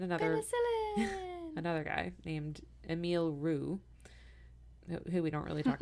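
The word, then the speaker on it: Roux: Lou pasture and another another guy named Emil Rue who we don't really talk about much um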